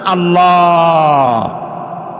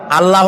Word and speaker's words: আল্লাহ: গুণাবলীতে বিশ্বাস আল্লাহর নাম আল্লাহ বলেন তো আল্লাহ নয় কিন্তু আল্লাহ হচ্ছে অশুদ্ধ শুদ্ধ হচ্ছে আল্লাহ। বলার সময় মুখটা গোল হয়ে যাবে।